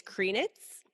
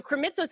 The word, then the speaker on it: Krimitsos: So Krimitsos actually, to me, seemed a lot easier because I was like, just pronounce it out. It's fine. Like, it looks funny, but like, just pronounce it out and it's good.